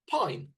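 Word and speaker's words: Pijn: Pronounce this band's name for me, Brendan. I would imagine it's Pin.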